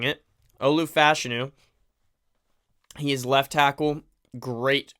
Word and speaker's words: Olu Fashanu: fashu learn that that's the proper way of pronouncing it Olu fashanu he is left tackle great great size um